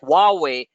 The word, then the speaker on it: Huawei: one of the world's largest tech companies like Huawei the ban on Huawei to be eased and